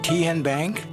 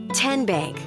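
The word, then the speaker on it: TNBank: Ken Bank. Nope. Tin Bank. Uh-uh. So, what is it? Tenbank. 10 as in Tennessee.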